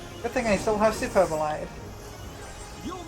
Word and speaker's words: Superbolide: thing I still have superbolide you'll not escape this I'm pretty sure it is supposed to be pronounced super B but I've always pronounced it superbol so I'm going to keep doing that because I'm stubborn you're